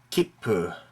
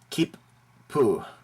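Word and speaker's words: 切符: next to each other try to pronounce both continents with a very short pause in between for example keep poo keep poo this means ticket keepu kipu okay not kipu or kipu it's keep po keep poo also take note that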